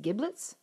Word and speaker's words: giblets: It's with sausage and the, is it giblets? Yeah. Yeah. Giblets. That's a soft G.